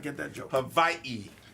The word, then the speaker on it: Hawaii: Havi. Hawaii is the correct pronunciation.